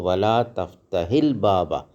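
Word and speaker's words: ولا تفتحِ الباب: നീ തുറക്കരുത് അൽബാബ വാതിൽ അപ്പൊ ഇവിടെ വലാ തഫ്തഹിൽ ഹാ ന്റെ മുകളിൽ സുക്കൂൻ ഉണ്ട് അൽബാബിൽ ലാമിന്റെ മുകളിൽ സുക്കൂൻ ഉണ്ട് അപ്പൊ രണ്ട് സുക്കൂനുകൾ ഒരുമിച്ച് വന്നാൽ ഹാക്ക് എന്താകും കസർ ആകും അപ്പൊ വലാതഹിൽ ബാബ ഉച്ചാരണത്തിനു വേണ്ടി മാത്രമാണ് ശരിക്ക് സുക്കൂനാണ് അതിന്റെ മുകളിൽ സുക്കൂനാണ് ലാള് നീ ചിരിക്കരുത് ഫിൽ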